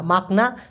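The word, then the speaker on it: makna: মেঝে মাকসুদ মাকসুদ অথবা মাকনা দেখুন এম এ কে মাক এন এ না মাকনা তার সাথে আবার এন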